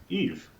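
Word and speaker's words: Yves: So DJ, her name is Eve. It's spelled Y-V-E-S.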